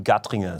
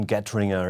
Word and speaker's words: Gattringer: show his name is gutting a get wringer if you pronounce it in English language and he's playing a